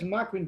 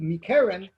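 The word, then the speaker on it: מקרין: It says makrin, but it doesn't. It's pronounced as if it has a yud, but it's spelled as if it doesn't have a yud, which would read mikeren.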